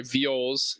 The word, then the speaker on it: viols: They got like their little viols and their sorry, viols is the way to pronounce that.